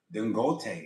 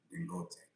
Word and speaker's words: Dangote: you can go and Dangote. His name is Dangote. I think it's Gote. That's how you say it. Dangote.